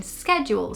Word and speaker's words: schedule: american to british english the first one is schedule which in american english would be schedule and this is something that i see lots of british people still say in schedules so it's not that